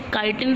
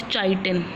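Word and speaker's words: chitin: सी के बाद आपने के की निकालनी है. CHI काई, TIN टिन. आपने इसे काइटिन प्रोनाउंस करना है, नॉट चाइटिन. ओके, तो क्या है कि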